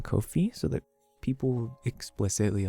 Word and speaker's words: Ko-fi: Swear to God, Jay, listen to the pronunciation of fee. But it's I think Catch wants me to say fi. Oh, fi, not fee. Oh, like a hard I versus a soft I.